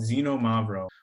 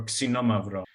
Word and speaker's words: Xinomavro: And the main grape that we talk about and that is grown in this area is called Xinomavro or Xinomavro with the proper Greek pronunciation.